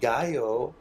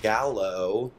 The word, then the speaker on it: gallo: stupid pika de gayo not Gallo on the truck no